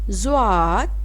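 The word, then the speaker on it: ضاد: Zwad, ZWAD, zwad. Zwad is start for English letter Z.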